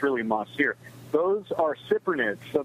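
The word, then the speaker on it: mahseer: now mossy Ronettes veld NHS ier sometimes people mispronounce it and say ma shear but it's really ma steer those are super Nets so they're members of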